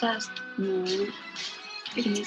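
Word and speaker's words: 五: It is pronounced as wu.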